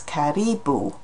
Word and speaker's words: karibu: So in Swahili it's karibu, the stress is on the second syllable there, whereas the animal is a caribou.